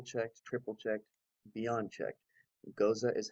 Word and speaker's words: Gose: Gose is how Gose is supposed to be pronounced.